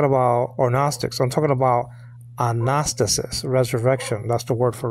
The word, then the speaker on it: Anastasis: the Anastasis, not agnostic, Anastasis. Anastasis means resurrection, okay? I used to pronounce it Anastasis, and I guess I'm going to go back to that because it doesn't sound like agnostic, you know?